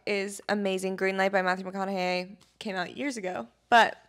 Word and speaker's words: Matthew McConaughey: I started reading again, and I have never been a huge fan of Matthew McConaughey.